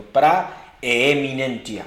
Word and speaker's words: praeminentia: Amados en Cristo, amigos, preeminencia es un término que tiene su origen en el vocablo latino praeminentia, así como lo estoy pronunciando, praeminentia, con doble E, praeminentia.